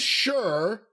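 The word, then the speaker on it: Sher: sure i-n-d-u-s and then the next word is s-h-e-r sure like John sure but sure sure all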